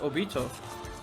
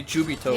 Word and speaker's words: Obito: Oh, it's pronounced Obito. I thought it would be Jubito.